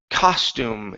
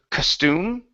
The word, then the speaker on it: costume: The word is pronounced costume instead of costume. Okay, the stress is at the beginning.